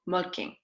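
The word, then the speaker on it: Molching: Assez loin de la périphérie de Munich, il y avait une petite ville nommée Molking, que vous et moi prononcerons plutôt Molking.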